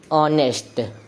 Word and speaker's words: honest: जैसे कि ऑनेस्ट, ऑनेस्ट की स्पेलिंग होती है HONEST। इसकी स्पेलिंग तो कॉन्सोनेंट से स्टार्ट हो रही है, लेकिन इसका प्रोनाउंसिएशन क्या होता है, ऑनेस्ट।